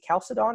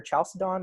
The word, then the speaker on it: Chalcedon: Is it Chalcedon or Chalcedon? Or, I think both are totally acceptable.